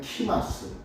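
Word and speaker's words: Xmas: 그래서 우리가 흔히 X하고 마스는 X마스가 아니라 정확히 발음하면 키마스, 크리스마스, 크리스마스에 해당하는 같은 뜻입니다.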